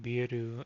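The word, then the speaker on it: ビール: But yeah, we got into that because I said biru and I was making fun of myself, but that is how you pronounce beer in Japanese, and Yeah.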